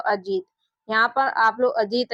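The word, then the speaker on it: Ajit: ए जे आई टी। देखिए इसको पढ़ेंगे अजीत। यहां पर इसका उच्चारण अजीत होगा।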